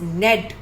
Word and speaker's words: knead: इसमें के भी साइलेंट है. कुछ वर्ड्स में लेटर्स साइलेंट होते हैं, वी रीड them like this only. The word is नेड.